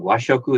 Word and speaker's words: washoku: i thought that i was saying it wrong washoku is japanese yoshoku is western cuisine in japan